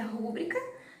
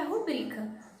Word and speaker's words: rubrica: Algumas pessoas falam que é rúbrica e outras que é rubrica. Como que eu vou saber qual o jeito certo de pronunciar? Você lembra que todas as palavras proparoxítonas, elas são obrigadas a terem acento? Então, vamos ver quantas sílabas tem a palavra rubrica ou rúbrica. Rubrica. Tem 3. Então, tem a última, penúltima e antepenúltima. Se o acento fosse no ru, de rúbrica, como ela seria uma proparoxítona, seria obrigatório que ela fosse acentuada.